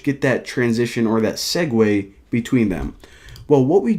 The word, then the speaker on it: segue: to whenever they click the button now a segue of course that's how you pronounce that word actually didn't even know I